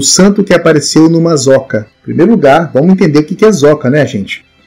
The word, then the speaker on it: zoca: Uma curiosidade também é sobre o santo que apareceu numa zoca. Em primeiro lugar, vamos entender o que é zoca, né, gente? Zoca ou soca na pronúncia portuguesa, mais conhecido como tamanco, que é aquele sapato feito em madeira.